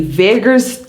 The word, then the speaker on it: vagus: Now let's talk about the vagus nerve before I talk about cold water therapy. What is the vagus nerve? Now I'm not talking about Las Vegas. It's the same pronunciation but different spelling.